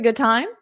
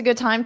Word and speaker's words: good time: So you don't have to pronounce that d. Good time. Good time. So just get your mouth in the position, but don't push it out. And when you do push it out, push out with the t.